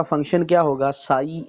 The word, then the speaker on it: psi: Function जो है वो साई लिखा जाता है, साई। ठीक है, ये PSI, ठीक है, P साइलेंट है और हम इसको साई पढ़ते हैं।